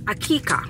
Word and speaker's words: Aqiqah: see gole my pronounce things so it is pronounced AK akika right now it's basically this my coworker is